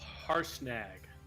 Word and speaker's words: Harshnag: How do you pronounce his name? It's Harshnag.